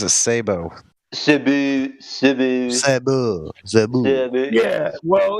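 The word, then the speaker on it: sabot: You pronounce it Sabo.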